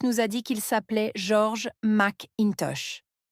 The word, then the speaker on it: George: a dit qu'il s'appelait George McIntosh. « Oui, a dit le nouveau. George. » La maîtresse nous a expliqué qu'il s'appelait George, mais que dans sa langue, ça se prononçait George.